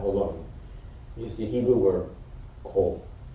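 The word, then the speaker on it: כֹּל: The key word in the Torah's explanation, repeated some 25 times in chapter 35 alone, is the Hebrew word kol. Sometimes pronounced kal.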